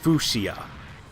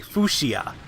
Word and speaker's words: fuchsia: this is so weird I thought fuchsia at first is pronounced fuchia that totally makes sense not but anyway guys that's a new color new word of the day fuchsia that's what we'll call